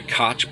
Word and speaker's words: Koch: The Koch brothers, Rome, Jerusalem. Well, it's actually pronounced Koch.